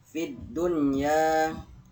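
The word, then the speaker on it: فِي الدُّنْيَا: Nah, tapi karena dia menghadapi tasydid ya, fid dunya, jadi v-nya ini tidak panjang, dia langsung ke huruf dalnya. Fid dunya, jadi v-nya ini tidak panjang walaupun dia mad tabi'i karena dia bertemu dengan tasydid. Tasydidnya di huruf da.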